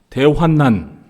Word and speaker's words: 대환난: 기회가 오기를 손꼽아 기다렸는데요 우리가이 대환란을 대부분 대환란 발음합니다 그런데 사실 정확한 발음은 대환난 대환란이 아니에요 대환란이 라고 읽을 경우에는